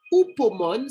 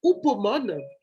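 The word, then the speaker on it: hupomone: Il y a le mot upomone, ça s'écrit H-U-P-O-M-O-N-E.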